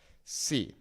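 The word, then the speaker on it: sí: So an example of that could be in the word see and in the word see, okay? These are both pronounced exactly the same, but the first one, see, without an accent means if, whereas see with an accent means yes.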